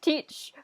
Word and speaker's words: Teach: is like i'm edward teach rhymes with beach and i was like